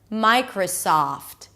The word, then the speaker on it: Microsoft: Notice how whenever we have names that have 3 syllables and the first syllable has a pure vowel in it, the middle syllable is usually reduced to a schwa.